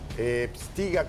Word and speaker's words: Pstyga: ehtiga, a ver, quiero pronunciar bien tu nombre, ¿cómo estás?